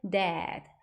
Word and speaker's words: dad: d a 같은 경우엔 dad Dad 입을 갖다가 약간 밑으로 더 벌려 주시면서 Dead라고 발음해 주셔야 됩니다